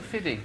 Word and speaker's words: 50 Cent: Why is it Fiddy? Because that's how you say it.